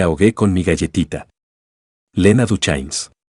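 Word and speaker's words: Duchannes: Lena Duchains. Pronunciado, en el sur, para rimar con lluvia. De la manera en que Ama lo extendió, hubieras pensado que la palabra tenía una sílaba extra.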